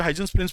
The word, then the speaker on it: Huygens: principal क्या बोलना है अकॉर्डिंग तू हाइजीनस पर ये यू साइलेंट राहत है इसमें अब ये कुछ